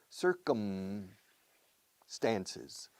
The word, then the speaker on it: circumstances: the Belgian Congo circumstancius circum stances circumstances circumstances circumstances circumstances four syllables but the first syllable is the stress circumstances and please close your mouth with the m circum circum SI senor